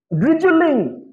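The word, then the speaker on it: drizzle: So এটার উচ্চারণটা খুবই সফট একটা উচ্চারণ, ইটস ড্রিজল, ড্রিজল, ড্রিজল। ওই যে যায়, ওই যায়, জল, জল, ড্রিজল, ড্রিজল, right, ড্রিজল, very soft.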